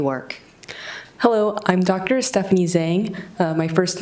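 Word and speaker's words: Zheng: Stephanie Zang. Uh, my first name is Stephanie. That's spelled S T E P H A N I E.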